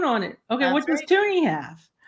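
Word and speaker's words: Toonie: it okay what does toony have it's got a polar bear on it but it's called a toony because it rhymes with Looney freezies freezies yeah um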